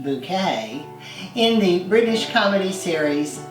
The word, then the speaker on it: Bucket: She played Hyacinth Bucket, pronounced bouquet, in the British comedy series Keeping Up Appearances.